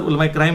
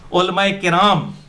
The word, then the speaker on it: उलमाए किराम: बाज़-औक़ात आप भी गलत लफ्ज़ बोलते हैं और उलमाए किराम, अच्छा मेरे मुंह से अक्सर उलमाए क्राइम निकल जाता है, मैंने सोचा है उलमाए किराम यानी इज्जत वाले उलमा आपकी गलतियां निकालते हैं।